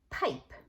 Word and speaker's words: pipe: it would now become pipe. Pipe. That E is crossed off because it's silent, but it's changing the I, making it say its name, I, pipe.